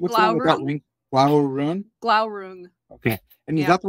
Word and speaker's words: Glaurung: Is it, you said it earlier, what's Glaurung? The one with that ring? Glaurung? Glaurung.